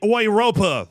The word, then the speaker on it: Europa: So, first in the Ouropa League, I believe is the correct localized pronunciation, we had Roma defeating Sheriff Tuspole 3-0.